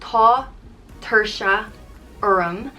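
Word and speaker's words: tá tuirse orm: thing like just cane fall next up is tater sharm which means i'm tired it's pronounced tho tertia urum and it translates to there is tiredness on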